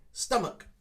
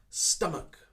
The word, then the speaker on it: stomach: but in this one we do not need that ch sound of course we hear it in chair beach but at the end of this word we don't need it so how do we pronounce this word we simply say stomach stomach more of a k sound at the end so it's a very big k sound stomach i ate too much